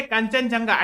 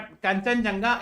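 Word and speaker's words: Kangchenjunga: ये है कंचनजंगा. एक्चुअली ठीक है, इसका स्पेलिंग ऐसे लिखा है कि थोड़ा सा आदमी डर रहा है, बट कंचनजंगा is actually in Sikkim, है ना, third highest mountain peak of the world.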